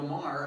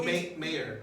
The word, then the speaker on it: Maher: that's one thing i appreciate about like bill maher on his show is like i don't know who billboard is okay so he's a comedian he's on hbo so he's like bill maher m-a-r yeah i know it's n-a-h-e-r oh okay